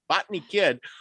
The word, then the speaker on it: Bogi-Kidd: Bogni-Kidd also retired recently after 40 years of office managing for Dave and his predecessor.